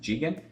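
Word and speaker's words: ZIGExN: to very soon is is called jigen i know it says z-i-g-e-x-n but it's pronounced jigen and firstly i saw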